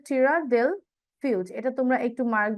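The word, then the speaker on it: Tierra del Fuego: southern most else of দেল ফিউজ এইটা হবে প্রোনাউন্সিয়ান টিরা দেল ফিউজ এটা তোমরা একটু মার্ক বা হাইলাইট করতে পারো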